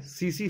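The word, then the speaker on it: tsetse: तो इसके लिए एक बीमारी है, सीसी फ्लाई उसको बोलते हैं। टी इसमें साइलेंट रहता है।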